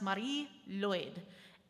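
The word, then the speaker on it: Mari Lwyd: you see up here on the screen it's pronounced Marie Lloyd and it's this hobby horse like a stick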